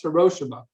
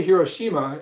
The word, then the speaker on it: Hiroshima: Oh, by the way, we checked with a Japanese fellow how to pronounce Hiroshima, because we say Hiroshima in English, but he said the correct way to say it in Japanese is Hiroshima.